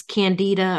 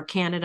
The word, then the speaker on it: Candida: this interesting uh Mary this candida or Canada I've heard it pronounced both ways it can actually enter